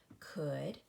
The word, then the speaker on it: could: of these words would could and should we have oh you saying O and the L is silent so when you come